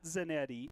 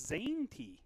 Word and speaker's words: Zanetti: He says it's not Zanetti, it is Zanetti.